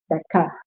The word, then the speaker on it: Beka: Becca is spelled Beka. Becca.